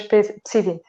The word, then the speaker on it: PSI 20: Você falou que você pronunciou ele como PSI 20. É PSI 20. Eu quando ia pronunciar, eu pronunciava como PSI 20, mas na prática... Não, PSI 20. Nós dizemos PSI 20.